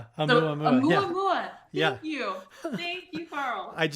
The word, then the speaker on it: Oumuamua: Amuamua. Oumuamua.